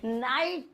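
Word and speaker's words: knight: में वो साइलेंट है एन से पहले के आए जैसे की एग्जांपल है नाइट अब नाइट में किया रहा पहले तो तुम यही सोच रहे होंगे नाइट में केक हमारा नाइट वाले तो तुम्हें लगता है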